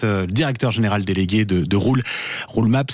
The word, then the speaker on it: Roole: Vous êtes le directeur général délégué de Roulemap. Ça s'écrit donc ROOLE.